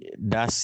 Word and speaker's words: das: kalau di das yang bawah tuh nah, itu kalau S-nya 2 tuh dibacanya pendek kah, Pak? Ya, jadi A-nya tidak usah dipanjangin, jadi das gitu.